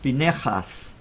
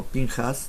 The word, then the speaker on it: Pinchas: in this special portion called pinhas some people pronounce pinejas i like more pinhas that's the most popular way to pronounce it